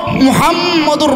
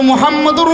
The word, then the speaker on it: মোহাম্মদ: রাব্বুল আলামিন তার দোস্ত মুহাম্মাদুর রাসূলুল্লাহ সাল্লাল্লাহু আলাইহি ওয়াসাল্লামকে এত মহাব্বত করে মোহাম্মদ এই নামটা যখন আমরা উচ্চারণ করি দুইবার ঠোঁটটা মিলাতে হয় মোহাম্মদ দুইটা চুমুকে মুহাম্মাদুর রাসুলুল্লাহর নামটা আমরা